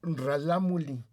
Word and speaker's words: Ralámuli: sí, porque ellos se autodenominan rarámuri o ralámuli, porque tienen ellos una consonante que suena entre R y L, muy difícil de pronunciar para nosotros, pero sobre todo en las partes de las barrancas lo tienen más marcado hacia la L, entonces son ralámulis.